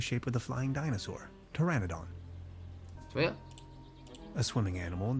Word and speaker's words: Pteranodon: ？Pteranodon 啊，P 是不发音的是吧？Pteranodon 还真是吧？Pteranodon 翼龙属是吧？无齿翼龙啊。Pteranodon。来，这里总算对话了是吧 Hey, sweetheart.